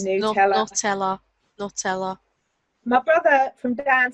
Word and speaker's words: Nutella: Nutella. How do you say it? I was doing it Manchester. Nutella.